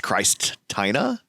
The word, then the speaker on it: Kristina: Actually, it's Kristina.